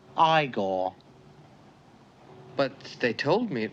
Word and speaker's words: Igor: I see you must be eagor now it's pronounced igore but they told me it was eigor well they were wrong then weren't they uh